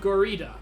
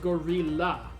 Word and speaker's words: gorilla: you have strength of gorida it's pronounced gorilla i could train my